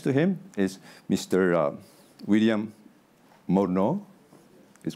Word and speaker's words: Morneau: William Morneau. Is correct yes, pronunciation?